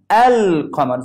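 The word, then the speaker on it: القمر: Okay, but here, I will pronounce this lam. Okay, I will say al. Al-qamar.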